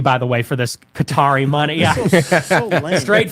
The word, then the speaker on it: Qatar: Qatar? Qatar. Well, it's like it's an Arab word. It has no vowels. It's like QTR. So it's like Qatar is how you would pronounce it, like Arabic.